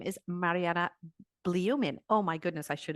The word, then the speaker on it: Marianna Blyumin: And her name is Marianna Blyumin. Oh, my goodness, I should have checked that before. Did I pronounce that right?